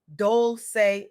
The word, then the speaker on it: Dolce: Welcome to the Soft Girl Era podcast, hosted by LeAnne Dolce, pronounced Dolce like sweet softness whispered in French.